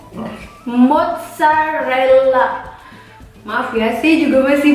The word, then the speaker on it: mozzarella: So the correct way is mozzarella. Double L. Mozzarella. Oke, karena mozzarella kan double Z, double L. Jadi kita bacanya kayak si pizza tadi, ada T sama S. Jadi mozzarella, karena double L, L-nya agak dipanjangin.